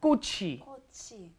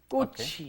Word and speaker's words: 꽃이: Make sure your pronunciation is 꽃이, right? The chi moves up into the in front of the e, and that's a hard 기억 on there, right?